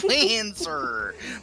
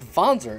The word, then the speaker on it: Wanzer: ones the wanzer no lancer look don't don't do what front mission evolve did yeah so for the for the record it's pronounced fonzer it's a german word uh don't play front